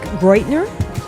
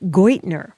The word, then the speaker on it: Geudtner: Okay, Nick Geudtner. Thank you. Yeah, All right. Perfect. And it doesn't sound how it's spelled. Alex German? Or something? Yes, it is.